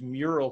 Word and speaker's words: Mural: Like I used to use Mural quite a bit. It sounds like Miro. It's spelled M-U-R-A-L.